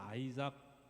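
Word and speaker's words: Isaac: 할 때 그 이삭이에요 발음이 영어로는 아이작 이렇게 하고 우리나라 사람들 이삭이라고 돼서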